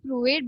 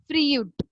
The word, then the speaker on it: Freud: We usually pronounce it as Freud, but it is Freud.